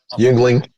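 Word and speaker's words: Yuengling: Yingling, is that how you pronounce it? Yingling.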